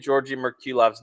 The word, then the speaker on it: Georgi Merkulov: He says, no, Dom, say it correctly. Georgi Merkulov. Got to get the tongue roll R in there.